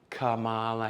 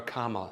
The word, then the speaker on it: Kamala: Kamala Harris. Right? Or Kamala, excuse me. I said her name wrong, so I need to go to liberal jail now.